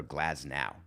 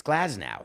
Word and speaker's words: Glasnow: pronouncing I am wrong so it's glaz Gau or glaz now I can't be wrong with both it's glaz now that's what I thought